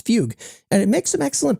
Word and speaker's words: Fugue: the CEO of f though he pronounces it as Fugue and it makes some